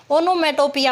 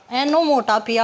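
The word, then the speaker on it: onomatopoeia: जिस किसी भी सेंटेंस में नेचुरल साउंड दिखाई गई हो तो वो हमारा क्या होगा, ओनोमेटोपिया होगा, एनोमोटापिया होगा, एनोमोटापिया होगा, इसकी प्रोनाउंसिएशन यही होगी, ओनोमेटोपिया।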